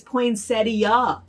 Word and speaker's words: poinsettia: it like that but regionally here everyone here says poinsettia right everybody says that but on youtube a couple people said oh my gosh stop saying that it's poinsettia and i thought i